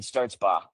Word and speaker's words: Stertzbach: probably, but I guess that that ch is, uh, is silent, but it is.